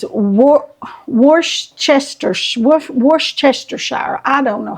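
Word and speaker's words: Worcestershire: how you pronounce it I always called it werer sauce I don't know if that's right or wrong but I know people have a hard time saying it and I just always called it Wester share worshire I guess it depends on how if you're going to pronounce every letter or some of them are going to be silent I don't know all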